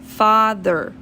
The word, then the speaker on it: father: é misturado com O, que é father. Então é O, fa, ok? Então é um A misturado com O, father, que é a palavra papai.